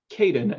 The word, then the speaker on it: Caiden: Am I pronouncing that properly, Caiden? It's Caiden, actually. Caiden.